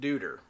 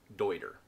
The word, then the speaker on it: Deuter: this german pack manufacturer almost universally gets called duder but it is actually pronounced deuter interestingly enough i've heard this brand called katahdin